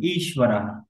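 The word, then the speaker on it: ঈশ্বরঃ: এটা উচ্চারণ হবে ঈশ্বরাহ। ঈশ্বরः। কিন্তু ঈশ্বরः। এটা একটু স্ট্রেচ সাইন হবে। যেমন ধরুন ঈশ্বরাহ, ঈশ্বর রাহা, এই হাতে একটু সাউন্ড হবে, এখানে একটু স্ট্রেচ সাইন হবে। আবার এখানে একটু দীর্ঘ উচ্চারণ হবে, হ্যাঁ, এটা লং সাউন্ড হবে, ঈশ্বরাহ।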